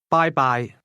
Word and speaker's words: 拜拜: Bye-bye. Bye. Bye. Bye-bye. Bye-bye. That's pronounced with high and mid-level tones.